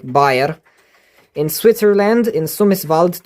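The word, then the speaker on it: Baer: was made by JG bear or berer like b a e r I will just pronounce it the way I pronounce it in Romanian like buer in Switzerland in sumis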